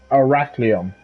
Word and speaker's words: Arachlium: But it's Arachlium. Now, the easiest way to explain to people how to pronounce it is to break down the words arachnid and Leon.